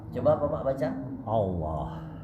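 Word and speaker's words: الله: Coba Bapak baca Allah nah masih salah karena huruf alif terseret ke dalam huruf lam jadinya Allah Allah Bacanya adalah Allah Allah Allah a tetap a bacanya ya ingat ketika kita fathah janjinya adalah setiap fathah harus terbuka a a Allah Allah Allahu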